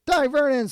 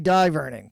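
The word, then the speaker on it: Dai Vernon: Diverin, slow motion card vanish. Okay, I say diveron because I'm originally from the east coast. I know it is short for David, so it should be de Vernon, which I believe is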